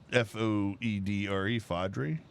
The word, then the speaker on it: foudre: The French call it Foedre. Mm-hmm. Foudre? Foedre. Because the French sometimes just don't pronounce like the last 6 syllables of a word.